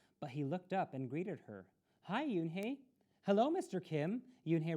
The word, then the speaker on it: Unhei: she nodded slowly yes it's pronounced yoon hey and it means grace mr kim added yoon